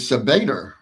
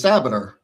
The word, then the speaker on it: Sabater: I've heard your name in the press conference pronounced as Sabater, but I thought it was Sabater." And he said, "Yeah, you're correct. They're wrong."